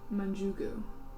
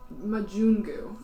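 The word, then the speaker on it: majungu: this creature that you would recognize as a Mugu um Mugu yes it is sort of like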